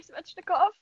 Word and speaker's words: Svechnikov: Andrei Svechnikov. I love him. Wow. She pronounced it correctly, too.